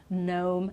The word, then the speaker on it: gnome: And then finally here, another one, okay, with the letter G. So again, we don't pronounce with these words and some others. This is just, a shorter list. So gnome, gnat, which is like, that's